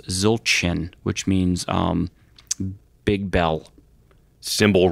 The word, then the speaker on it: Zildjian: not how it's pronounced the C would have a little tail on the bottom of it so it's pronounced Zildjian which means big bell